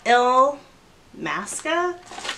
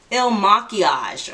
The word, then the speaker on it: Il Makiage: And I picked up the Il Masca. Wait, how do you say? Il Makiage. Okay, it's not the Il Masca.